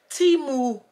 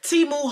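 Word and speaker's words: Temu: looking forward to that Teemu how review I was about to say it wrong timu Hall so I'll be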